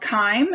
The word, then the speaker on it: chyme: The resulting semi-fluid mixture is called chyme, and that's spelled C-H-Y-M-E.